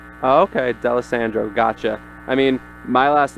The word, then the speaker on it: D'Alessandro: People usually get confused by the Italian. People just gotta basically pretend like it's not there. Just D'Alessandro. Oh, okay, D'Alessandro, gotcha.